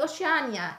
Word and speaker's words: Oceania: And how do you say Oceania then in Italian?